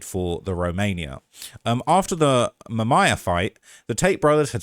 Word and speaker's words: Mamaia: I believe I am actually pronouncing it correctly. Let's see. Let's listen what Prepare your ears. Mamaia.